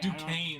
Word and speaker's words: Duquesne: Duquesne, that's right.